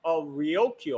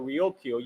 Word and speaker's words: Ryukyu: This shows that Luchu Kingdom, or Kingdom of Ryukyu, if you use a Japanese pronunciation, was an independent sovereign nation at that time.